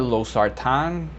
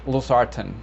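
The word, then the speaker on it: losartan: was saying it weird i was saying los sartan or los sartan or something like that it's los arten los harten i'm sorry that i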